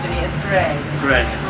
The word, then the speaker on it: Breizh: Someone pronounce to me as Breizh. Breizh.